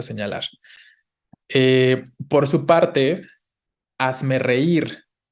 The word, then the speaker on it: reír: Por su parte, hazme reír. ¿Dónde va el acento de hazme reír? En la I, ¿no? Exacto. Entonces, recuerden, no es hazme reír, sino hazme reír, ¿no? La tonicidad está en la última sílaba.